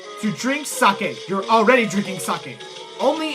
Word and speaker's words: sake: with you in this yes it is sake not safe in Japan a vowel ends the syllable I'm pretty sure that's usually it does so yeah it's sake and of course the bells